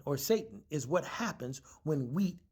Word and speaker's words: seitan: I want to pronounce it different because y'all keep saying Satan.